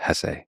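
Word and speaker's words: Hesse: and by the way please allow me this pronunciation of his last name I've heard some people say Hess but my whole life I've always said Hess so anyway it was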